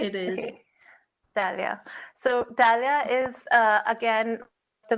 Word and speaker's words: Dalia: Is that the right pronunciation, Professor? Right? It is. Okay. Dalia.